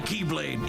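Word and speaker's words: χ-blade: means the X blade it's just pronounced like keyblade even though it's just one keyblade the series is so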